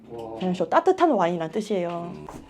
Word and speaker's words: vin chaud: 반 불어 발음으로 반인데 뱅쇼 아시죠? 뱅쇼. 뱅쇼가 그 원어민 발음이 밴쇼거든요. 밴쇼 따뜻한 와인이란 뜻이에요.